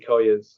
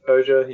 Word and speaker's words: Koja: I also read Kathy Koya's. Is it Koya or Koja? I'm not sure how you pronounce her name. I've Koja. heard it Koja, but I don't know if Yeah, that's right. Kathy Koja.